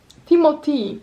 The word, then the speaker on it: Timothée: przed chwilą obejrzałam krótki fragment wywiadu z Timothy Timothy właśnie się dowiedziałam że to się tak mówi